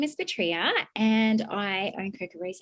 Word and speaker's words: Petria: It was Petria, there we go.